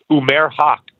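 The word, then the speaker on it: Umair Haque: Umair Haq.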